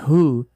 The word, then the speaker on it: who: Em who, o w é mudo.